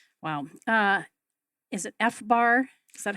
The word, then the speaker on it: FBAR: my fees right right wow uh is it fbar is that how I pronounce it F Bar yes that's an acronym